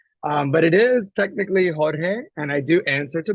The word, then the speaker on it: Jorge: you say it and a lot of people don't know really how to roll their RS very well so they're always like